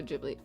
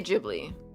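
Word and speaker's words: Ghibli: Fun fact, I think it'll be something that um in Japanese, so technically pronounced the way GIF. So, JibLy. Oh, I I bounce between the two pronunciations, honestly. I I I do sometimes say jibli, but then my dumb brain goes back.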